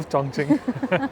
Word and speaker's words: Chongqing: रखा है I love चंग चिंग सो आप देखोगे चंग की स्पेलिंग आप पढ़ोगे तो चंग और क्यू आई एनजी है but they pronounce it एस चंग चिंगस तो बहुत सारे एरियाज